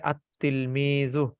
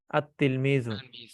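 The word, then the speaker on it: التلميذ: লাম যুক্ত হয় তাহলে লাম হরফটি উচ্চারিত হয় না বরং লামের পরবর্তী যে হরফটা আছে সেটা হচ্ছে তাজদিদ যুক্ত রূপে কি হয় উচ্চারিত হয় যেমন তিলমিজুন থেকে আলিফ লাম যোগে আতলমিজু আতলমিজু ঠিক আছে এটা হচ্ছে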